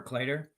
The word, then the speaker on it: Kleiter: Hall second stone for cler um nice little hit and roll is CER it's not cler I I've always pronounced it CER and I've never been corrected so we'll go with